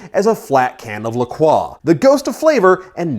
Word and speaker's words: LaCroix: a flat can of lacroix the ghosts of flavor and no fizz and women want the fizz and the flavor also yes it's pronounced Lacroix don't at me these guys end up